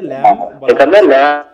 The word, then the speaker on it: lamb: ল্যাম, এলএম, বয়ের উচ্চারণ আছে এখানে বলো তো? আছে এখানে? না স্যার, না স্যার। এখানে ল্যাম বলা, বয়ের কোনো উচ্চারণ এখানে নাই।